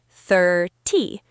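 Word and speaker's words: thirty: For 13, the stress is at the end. 13. The sound is long. For 30, the stress is at the beginning. 30. The sound at the end is short and sharp.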